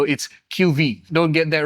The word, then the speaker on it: QV-E: Now, you may notice that it is spelled as QV-E, but I was told by Poda the E is silent with the V, so it's QV.